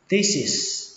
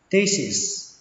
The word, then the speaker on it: thesis: Khóa luận đọc là thesis thesis, âm ở đây là âm tờ nhé các bạn, t và xuống giọng kết thúc bằng âm sờ, thesis thesis.